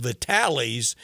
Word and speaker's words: Vitale's: And somewhere in there, you got to work in a room to go to, and it looks like how Dick Vitale spells it, but it's pronounced Vitales, and get one of the cream horns.